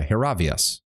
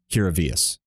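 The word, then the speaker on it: Hiravias: their own Graves yeah hervas am I saying it wrong hervas oh H hirus not hiria okay I was putting too much of a latinized pronunciation on it hirus okay I'll probably just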